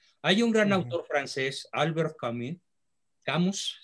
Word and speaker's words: Albert Camus: Hay un gran autor francés, Albert Camus, se escribe, se pronuncia Albert Camus, que escribe una novela